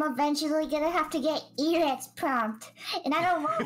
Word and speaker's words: Eret: No, it's Eret. It's Eret.